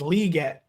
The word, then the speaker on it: Legette: he he already has no one said it's Lee no since the summer saying it's liette Le get Le okay